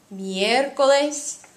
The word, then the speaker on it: miércoles: Lunes, martes, miércoles, jueves, viernes, sábado, domingo. Please note that there is an accent on miércoles and there is an accent on sábado, both in the pronunciation and the writing.